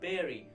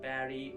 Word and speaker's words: bury: people bury there okay so you have to say berry it is never beauty somehow people say it barry or some kind of pronunciation it has got but this uh but the actual pronunciation for this is berry so remember bear it